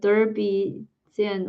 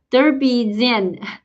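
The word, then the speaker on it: dzień dobry: Derby Zen. Derby Zen. Okay, I'm gonna write it down. Debris. I wish I need to pronounce it, but it sounds like debris gin.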